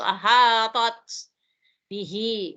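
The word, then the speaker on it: أحطت: Nah, di sini perlu hati-hati. Penyebutan huruf to dengan ta bertemu. Nah, to-nya tebal, ta-nya tipis. Wahatot. Cuma karena di sini ta maftuh ya. Ta terbukanya hurufnya apa? Sukun. Kalau kita penyebutannya di seakan-akan ada bunyi desis. Wahatot bihi. Wahatot bihi ya.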